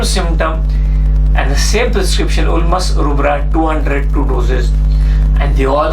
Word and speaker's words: Ulmus rubra: was Alma's problem or Ulmus rubra you pronounce it like UL mus bull moose rubra ru b ra a